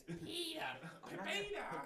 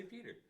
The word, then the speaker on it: PETA: You kept butchering PETA, by the way. Yeah, it's PETA. PETA. James, you don't say it like that, though. Yeah. Say Peter.